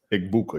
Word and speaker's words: Egbuka: Egbuka, yes. You have to enunciate the vowels.